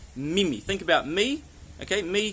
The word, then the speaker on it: mimi: so we're looking for a really strong I sound, like the letter E in your A, B, C, D, E.